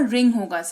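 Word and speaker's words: wring: और डब्ल्यू के बाद आर है तो डब्ल्यू साइलेंट है। इसीलिए इसका उच्चारण डब्ल्यू नहीं होगा। रिंग होगा। डब्ल्यू लिखा जाएगा पर पढ़ा नहीं जाएगा।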